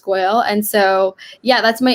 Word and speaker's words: Goel: g-o-e-l underscore um and my last name is pronounced goyal and so yeah that's my instagram pretty much